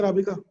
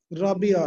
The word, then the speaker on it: राबिया: ठीक है राबिका? राबिया है नाम, मैं गलत पढ़ रहा था, सॉरी, मैं आपका नाम ही गलत प्रोनाउंस कर रहा हूँ काफी देर से।